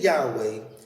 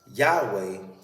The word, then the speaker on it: Yahweh: y h w h yahweh should be spelled y a h w e h u the first h sound following ya should be clearly pronounced as should the last